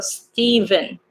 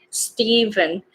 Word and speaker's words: Stephen: So PH is actually pronounced V, so Stephen. Stephen.